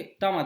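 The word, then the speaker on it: Tatmadaw: हैं ता मद ओके ता मद आईटी इस प्रोनाउंस ओके सो तमाड़ आप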